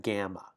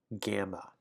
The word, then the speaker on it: gamma: Then we have gamma, gamma. And it looks like that. It's the G in got, so it's a hard G sound.